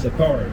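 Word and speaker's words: Sicarii: How do you pronounce it? Sakari, yep.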